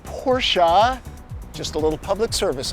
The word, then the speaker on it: Porsche: for practicality from your Porsche and it is pronounced Porsche just a little Public Service I provide 142